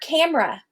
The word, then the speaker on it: camera: And the same with the word camera. Camera. That middle syllable is so unstressed, I take it out completely.